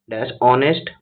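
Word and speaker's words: honest: নেক্স question রয়েছে waited for অনেস্ট ম্যান।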